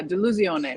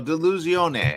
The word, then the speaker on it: Delusione: pleasure to be here you say uh de lucione like delusional in Italian yes so delusione I love that uh